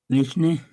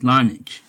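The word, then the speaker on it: Larnach: Lishne? I can't pronounce that name. Let me see. Okay, it's Lonich.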